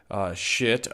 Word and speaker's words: Schiit: Today we have two DACs in from a company called Schiit Audio. That's Schiit, but it is pronounced the same as the swear word.